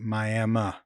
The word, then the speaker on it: Miami: Miami, Oklahoma, if you're there, make sure you pronounce it Miami.